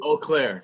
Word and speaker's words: Eau Claire: been practicing all night what's the correct pronunciation of it eau claire oh nobody hounded me saying oh